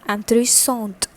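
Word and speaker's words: intéressante: added over here and the pronunciation from anthony song changes to and three songs and three songs and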